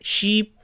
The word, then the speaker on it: sheep: In sheep, here is the double e, so we pronounce like sheep, and here in a